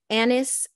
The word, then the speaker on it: anise: number four I like anise his sop Anna's spelled like Anna's seed right a-n-i-s-e and then